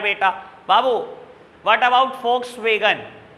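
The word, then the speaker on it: Volkswagen: इट इज a German company, और German में वी को FE प्रोनाउंस करते हैं। ऐड देख लेना, कभी नहीं बोलता वॉक्सवैगन, हमेशा बोलता है फॉक्सवैगन। फॉक्सवैगन है कंपनी का नाम, वॉक्सवैगन नहीं है बेटा, ठीक है जी।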